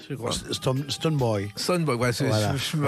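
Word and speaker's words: Stonebwoy: Alors là, vous êtes accompagné par Stone B-Boy, je crois. Stone Boy. Stone Boy, voilà, Voilà, ma ouais.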